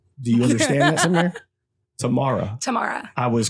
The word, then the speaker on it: Tamara: Tamara.